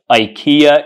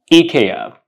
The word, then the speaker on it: IKEA: you pronounce this Ikea the pronunciation is not Ikea it's EA eeka eeka eeka so the next time